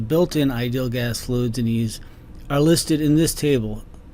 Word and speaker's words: EES: EES, which is pronounced EASE, is an acronym for Engineering Equation Solver. In the last video, we talked about ideal gas fluids that are built into EASE.